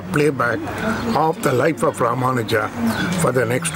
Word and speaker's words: Ramanujar: I spell it for you: R-A-M-A-N-A-J-U-R. Ramanujar is the name of the teacher, or we call our Acharya.